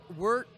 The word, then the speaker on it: wort: Wort is pronounced wort, but it's spelled W-O-R-T.